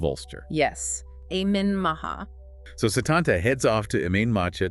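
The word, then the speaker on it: Sétanta: Pronounced Setanta. Setanta.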